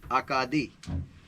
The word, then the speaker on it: Acadie: Pronounced in French, Acadie.